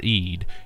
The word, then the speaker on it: eed: The latter word split of eed from the phonetic mare eed is a Dutch word that means oath and is phonetically pronounced to sound like eat.